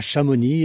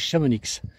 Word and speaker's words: Chamonix: Et puis comme on a Chamoni et certains disent Chamonix, non c'est chamoni et là c'est la rame.